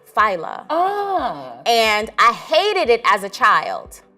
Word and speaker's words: Fila: So my name is spelled like Fila, but it's pronounced Fila.